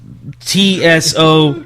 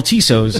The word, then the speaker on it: Tso: assuming it's Chinese food, but it's TSO chicken. T is silent, and Jacob, being the wordsmith and the average reader and writer that I perceive him as, he calls it General Tisso's, and I didn't tell